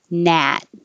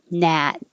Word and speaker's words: gnat: When you have a G in combination at the beginning of the word, you never say the G. You just start with the N. So this is gnat, gnat. The vowel is a.